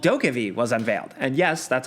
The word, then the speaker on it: DokeV: So, during Gamescom 2021, a long trailer for a game called DokeV was unveiled. And yes, that's how you pronounce it.